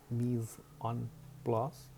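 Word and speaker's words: mise en place: It is pronounced Mise-en-place.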